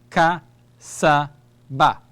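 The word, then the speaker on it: كسب: ba, fatha, fatha, fatha, kaf, fatha, ka, sin, fatha, sa, ba, fatha, ba, ka, sa, ba, kasaba.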